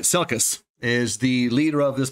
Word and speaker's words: Selkis: And Ryan, I'm going to pronounce his name right, Selkis, is the leader of this Messari team.